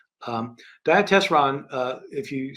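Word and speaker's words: Diatessaron: the gospels is called the dietes wrong um diet testron uh if you spell it out Dia uh means through in Greek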